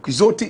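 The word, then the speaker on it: Quixote: And Quizotti is spelled qui X O T E.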